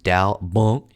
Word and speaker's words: đau bụng: this is like, abdominal pain," and which is pronounced đau bụng in Vietnamese.